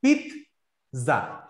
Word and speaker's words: pizza: অনেকে পিজা বলে, পিজা, অনেকে পিজা বলে। আমরা চেষ্টা করব বলার পিৎজা। পিৎজা, এটা দুই সিলেবল।